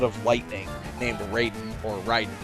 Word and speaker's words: Raiden: lightning named Raiden, or Raiden if you want to pronounce it correctly to the lore of the original country it's from.